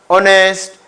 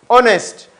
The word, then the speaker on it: honest: Tico and reason being letter H is kept silent we don't pronounce letter H there are four what